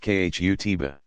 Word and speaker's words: khutbah: An address called the khutbah, pronounced khutbah, is a standard feature of every Friday congregational prayer service.